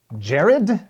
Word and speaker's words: Gerrad: Jared. If you pronounce it every single way you can think of, pick the one you like.